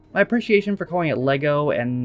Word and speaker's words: Lego: I've never heard anybody call it Legos with an S. That sounds like something that maybe you heard one or two Americans say and then figured that all Americans pronounce it that way. But everyone I know calls it Lego.